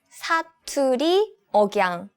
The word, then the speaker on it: 사투리 억양: 사투리 억양.